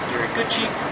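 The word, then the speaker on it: 入口: So in Japanese that's iriguchi, and in Chinese it's ruko.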